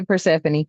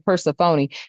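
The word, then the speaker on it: Persephone: Okay, Pphanie. It says go and and somebody taught me how to pronounce that. Okay, I was saying Popony.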